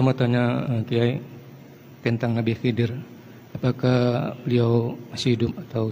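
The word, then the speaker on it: Khidr: Kita menyebutnya Nabi Khidir, kalau bacanya Khidir sebenarnya.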